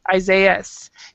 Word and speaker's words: Isaias: but to this spelling, Isaias. Do you guys actually pronounce the S? Yes.